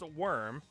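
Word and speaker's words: wyrm: be this thing but just changing one letter it's a dragon it's still pronounced worm but it's a worm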